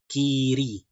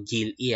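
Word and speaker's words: 길이: Hindi po gil-i ah. Naalala nyo po ulit sa rules po natin sa batchim. Kapag ang next syllable ay vowel, since this is a fake consonant, ang L ay mapupunta rito. And then, instead of L, ang basa na po ay R.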